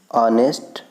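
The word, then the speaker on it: honest: ऑनेस्ट, honour, our और एयर, इसमें आप बताइए क्या है, साइलेंट। ठीक, इसमें एच का हम उच्चारण नहीं कर रहे हैं, प्रोनाउंसिएशन नहीं कर रहे हैं, इसमें एच इज साइलेंट।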